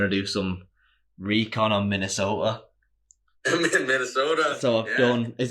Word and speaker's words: Minnesota: do some recon on Minnesota. Minnesota. So I've done. Is that the right pronunciation? Minnesota. Or is it Minnesota? Is it like soda with a D at the end?